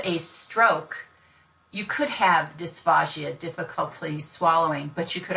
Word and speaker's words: dysphagia: One is dysphagia, spelled with the P-H-A-G-A, D-Y-S, P-H-A-G-A, dysphagia, which is a difficulty in swallowing, versus dysphagia, which is dysphasia, dysphagia.